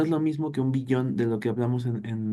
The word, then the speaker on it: billón: se le llama billón billón con acento en la o billón eso es un billón